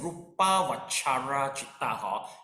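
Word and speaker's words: rūpāvacara citta: Okay, we pronounce it as a Rupa Vachara Chitta. Just pronounce as Bahasa Malaysia.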